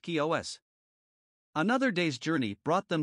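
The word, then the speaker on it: Chios: apparently anchored off the island of chi os pronounced kios another day's journey brought them to the island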